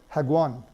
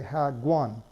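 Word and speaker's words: 학원: So here, this is the spelling, hak-one, but the pronunciation is hagwan. What's happening here is that the K at the end of the first syllable is being pushed into the second syllable if there's not already a consonant there. Moreover, the K is pronounced like a G sound, so we say hagwan, hagwan, right?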